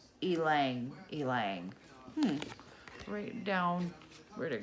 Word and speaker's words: ylang-ylang: flowers called ylang ylang so what I'm saying Liang Liang that is not how you pronounce it it is Alang Alang hmm write down where'd